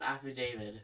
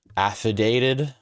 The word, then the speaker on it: affidavit: I think it's pronounced affidavit. Affidated. Affidavit. Like affidavit. Like a guy. Like the guy. Like the guy. The guy. David.